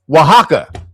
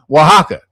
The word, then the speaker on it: Oaxaca: Let me tell you what it actually, it's Oaxaca. That's how you actually pronounce that name, Oaxaca. But it does not look like that.